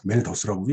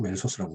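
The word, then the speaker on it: Malthus: 경제학 책이며 영국 고전학파 경제학자 토마스 로버트 멜더스라고도 얘기하고 멜서스라고 얘기하죠. 여기 TH 발음이기 때문에 그렇습니다. 여기 보면은 여기 TH 발음. 그래서 이 TH 발음이 드가 되든 쓰가 되든 우리말로 표현하기 어렵죠. 그래서 멜서스라고 표현하는 사람도 있고 멜더스라고 표현하는 사람도 있어요.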